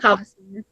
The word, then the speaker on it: Kvasir: Now, I'm going to butcher his name, but I believe it's pronounced Kvasir. It's Kvasir. If anyone knows how to pronounce English words, if anyone knows how to pronounce that correctly. But I've always heard Kavasir. Say that again? I've always heard it as Kavasir.